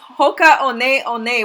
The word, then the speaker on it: Hoka One One: sold these shoes before the one one is actually pronounced on a on a says Hoka on a on a which means flying over